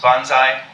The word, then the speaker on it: banzai: So it was Toyama Masukazu who suggested it be pronounced banzai.